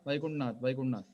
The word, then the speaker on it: Vaikunthanath: Hi Vaikunthanath, how are you? We don't use our stress. Vaikuntha, Vaikuntanath. Ending is deleted. Tha is reduced. Vaikuntanath.